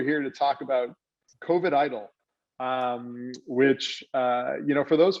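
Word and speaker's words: EIDL: and today we're here to talk about covet idol which you know for those folks that don't really know about the sba and their relief programs the term idol is something you see often after a natural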